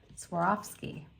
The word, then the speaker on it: Swarovski: Swarovski guess what guess what I just said Swarovski because because she sent me like the phonics